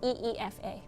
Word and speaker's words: Aoife: Uh, my name is pronounced EA. Think of it as E FA. Um, it's Irish, as am I, which we've already covered in the stream.